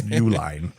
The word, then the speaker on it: Uihlein: You wouldn't know it's Uihlein.